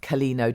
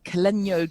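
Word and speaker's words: Caleño: It's the tilde on the end, which is South American, which gives it a different pronunciation.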